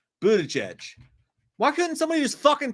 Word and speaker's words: Buttigieg: Michael Parton says, real quick, it's pronounced boot edge. Buttigieg.